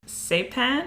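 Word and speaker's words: Cêpan: when he and his say pen I think is how it's pronounced so I would pronounce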